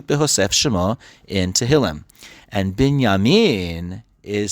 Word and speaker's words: Binyamin: He is called Binyamin. His father called him Binyamin. Does that sound the same? Because it is.